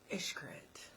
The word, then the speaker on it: Xcaret: So, and then the one that you always make fun of me talking about, Hotel Xcaret. Xcaret. It's Xcaret. The Mexican restaurant tip is called Xcaret. But I think everybody's pronouncing it wrong.